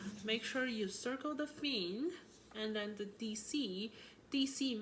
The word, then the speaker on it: fine: And then fine, you look at this, that is like exactly the English word fine, how it's spelled. So fine means, this is an Italian word too, so we call it fin.